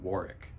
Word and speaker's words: Warwick: learned recently that uh we've all been pronouncing Warwick ROM that it's silent W Warwick do with it as